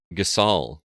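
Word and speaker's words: Gysahl: What is it, Gyashal? Is it not? What is it? They pronounce it Gasol in this game.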